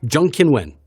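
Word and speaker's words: Zheng Qinwen: that if it's there if they're a Chinese national, it's the last name first. Exactly. Surname first. So, so I'm going to say Jean Kiwen. Jungkinwin. That's it. Jung Kinwin. That's That's pretty good.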